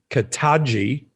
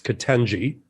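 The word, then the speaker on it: Ketanji: harris um you know he calls her to kataji it's kitenji if she wasn't the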